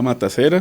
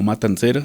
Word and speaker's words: La Severa Matacera: En las redes estamos como la severa matacera se escribe con C. Es no Matancera, es matacera.